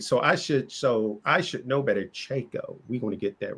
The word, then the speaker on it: Tchaiko: See, I wrote it Chiko. That's how I'm gonna pronounce it for the rest of the podcast. Because if I have that A and that I in there, I'm gonna mess it up.